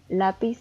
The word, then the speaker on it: lápiz: La segunda palabra es lápiz y está dividida en 2 sílabas y la sílaba tónica es la, y podemos ver que también tiene la tilde.